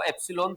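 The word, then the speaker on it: epsilon: इसको एप्सलॉन pronounce करते हैं।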